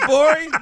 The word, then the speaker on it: Gborie: Talk that shit, Gborie. The G is silent.